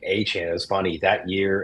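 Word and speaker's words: Etienne: ETN is not pronounced ETN? Apparently, he has said his name is Travis Achan. Supposed to say it like Devon Achan.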